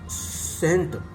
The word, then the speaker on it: scent: कुछ अक्षर ऐसे हैं, सेंट, सी वाले अक्षर हैं ये, तो सेंट माने इत्र, SCENT, सेंट, तो इसमें सी साइलेंट वर्ड है, सी वाले अक्षर है, सेंट माने।